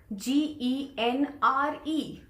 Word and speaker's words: genre: Look at the spelling of this word, G-E-N-R-E, and the pronunciation is genre.